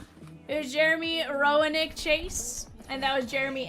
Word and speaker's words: Roenick: Jeremy Rennick. Hall of Fame hockey player. Jeremy Roenick, sorry. Weak Circus Lemonade, can't pronounce it.